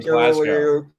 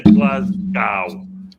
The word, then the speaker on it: Glasgow: Never say Glasgow. It's Glasgow. Glasgow. Glasgow. Glasgow. As in, just go.